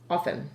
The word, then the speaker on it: often: the the ten part remember the t is silent so it's off often oven there you go